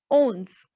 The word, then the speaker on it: onze: So 11 will be pronounced as ons.